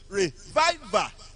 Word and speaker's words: revival: Because second syllable, second syllable, second syllable. Revival. Do, mi, do.